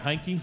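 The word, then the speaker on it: Hankey: Is it Hanky? Am I saying that right? Oh, there he is. Hanky. Yeah, there he is. Right back there. Right back there. I'm saying it right. Hankkey.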